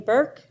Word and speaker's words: Burke: the record please Burke b-u-r-k-e and the E is silent um I just wanted